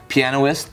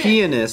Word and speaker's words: pianist: Pianoist? Just kidding. Penis. No, I think Yeah. it's pianist.